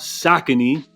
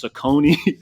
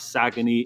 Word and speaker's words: Saucony: was talking about sakon which I used to pronounce sakone so this is the first year they're making so much noise that I had to actually learn how to pronounce their name correctly now when it comes